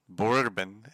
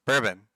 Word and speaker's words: Bourbon: Borbin. That's not how it's pronounced. Bourbon.